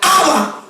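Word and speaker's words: Abba: santificado sea tu nombre la palabra padre es una palabra árabe que se pronuncia haba oye bien esta era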